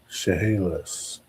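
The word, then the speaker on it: Chehalis: Pronunciation Shahalas. Really? Wow. Shahalis. What does it mean? Place of sand. Shahalis.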